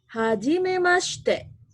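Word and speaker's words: はじめまして: Si-nya jangan terlalu jelas. Hajimemashite. Katakan sama-sama. Hajimemashite. Iya. Dina desu. Dozo yoroshiku. Nah, ini cara perkenalan singkat. Artinya, hajimemashite, perkenalkan.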